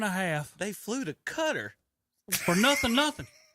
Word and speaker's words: Qatar: half they flew to Qatar for nothing nothing Qatar cutter that was like 10 different ways I could pull up NBC pronounce it just like that Tom